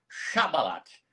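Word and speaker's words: שיבולת: Passou a falar sá de tanto ficar no meio deles e não conseguia mais falar chá. Xabalate.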